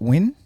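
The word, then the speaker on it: Nguyen: How do you say that name? Is it win? Steven Win. Yeah, that's what I say cuz it's um Vietnamese. I'm pretty sure.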